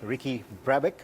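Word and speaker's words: Ricky Brabec: the delivery is begin in may 20 2008 Ricky Drabek is that right yes that's how you pronounce it he's the winner of the 2020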